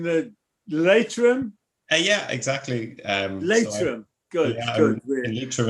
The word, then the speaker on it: Leitrim: Right, so Kieran from am I pronouncing the Leitrim? Yeah, exactly. Leitrim.